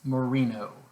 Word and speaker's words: Moreno: the first sentence i'm already stopping is mrs moreno mrs moreno that is spelled m-o-r-e-n-o all right mrs mourinho in the